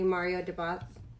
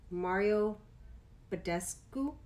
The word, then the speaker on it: Mario Badescu: soon but for now i'm just using a mario deboss mario badescu and i said it wrong but it's the